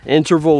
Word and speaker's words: INTRVL: Also, I've been testing out a new running app called INTRVL, and it's spelled interval without any of the vowels, and I'm really liking it so far.